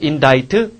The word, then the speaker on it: indict: 자, indict. 그 다음에 indicate는 나타내다, 가리키다라는 뜻이고, 그 다음, indict. 얘가 이제 참 대책 없지. 얘랑 얘가 발음이 사실상 똑같단 말이야. C가 묵음이 돼버리니까.